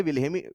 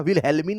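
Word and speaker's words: Wilhelmy: आज से कई साल पहले विल हेमी वी ल एच ई एल एम वाई हेमी L silent है जैसे ऋितिक का एच होता है अरे ऋितिक रोशन का साइलेंट है ना भाई निमोनिया का पी है हां या ना वैसे विल हेमी नाम है है ना विल हेलमी नहीं नाम है ठीक है अब विल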